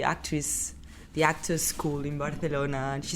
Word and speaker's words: Barcelona: for the people listening it's called Barcelona not Barcelona right Barcelona balona Bona yeah now I can